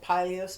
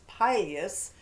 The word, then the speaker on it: pileated: Both pronunciations are correct, but I call it pileus because it's named for the pileus on the top of his head, the Latin word for that red crest.